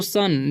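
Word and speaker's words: son: तो सन, देखिए एस ओ एन है तो इसे शोर नहीं पढ़ना है, ओ का उच्चारण अ होता है। ठीक है, यहाँ पर तो सन पढ़ेंगे।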